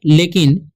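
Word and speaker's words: look: तो एल से क्या होता है ल होता है, लेकिन डबल ओ है तो यहाँ पर आप लोग समझेंगे कि दीर्घु हो जाएगा उच्चारण इसका, लेकिन नहीं, यहाँ पर इसका उच्चारण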